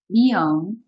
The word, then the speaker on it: beyond: Yeah, the stress is on the second syllable.